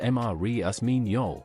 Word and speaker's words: Marius Mignol: A researcher named Marius Mignol, pronounced Marius Mignol, worked in secret.